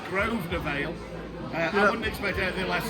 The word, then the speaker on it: Grosvenor Vale: You know, in terms of the pronunciation, because yeah, it's not Gross Vanner Vale. I've been teaching you all week. It's Grosvenor Vale.